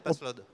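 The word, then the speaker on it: Paslode: C'est SPIT Passload ou pas? Prenez le micro. Et dites-nous tout. Bonjour, Bonjour. on prononce toutes les lettres, Passload. Passlode, et ben voilà.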